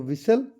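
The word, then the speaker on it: whistle: तो विसल से यह देखो इस तरह से विसल टी इसमें साइलेंट रहता है।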